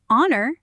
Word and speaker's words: honor: Because the H in honor and our is silent, the word starts with a vowel sound.